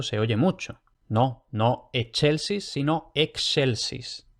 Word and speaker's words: excelsis: Entonces, por ejemplo, excelsis. Excelsis. Y como digo aquí, cuidado, no che, no excelsis, que eso se oye mucho. No, no excelsis, sino excelsis.